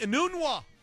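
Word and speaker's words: Enunwa: the name that I that I need to pronounce right it is Quincy a noon walk the wide receiver the Jets Christian out for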